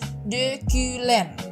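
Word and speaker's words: dökülen: kayak Bahasa Indonesia dan itu ada De kulen jadi itu O sama u-nya kan ada titik dua di atas ya jadinya harus dimonyongin bibirnya jadinya De Klen nah kemudian itu kanla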